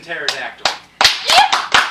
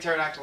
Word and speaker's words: pterodactyl: P the p is the p is dead the the p is silent the p is silent teror the p is